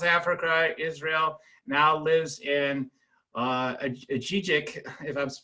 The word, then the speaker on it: Ajijic: Now lives in Ajijic, if I'm pronouncing that right.